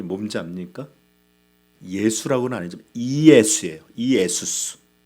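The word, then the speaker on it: Ἰησοῦς: 헬라어 원문의 발음은 예수님의 이름이 뭔지 압니까? 예수라고는 아니지만 이예수예요. 이예수스. 예수스.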